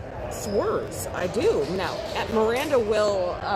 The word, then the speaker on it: Schwers: Miranda says Macomb number 11, Emily Schwers, is pronounced SW-ER-Z, watching from Carlton, Michigan.